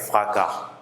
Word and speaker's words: fracas: Il brisa la porte avec fracas. Le S ne se prononce pas.